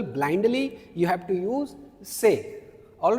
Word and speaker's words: ces: is c e s and how do you pronounce it? Say. Say.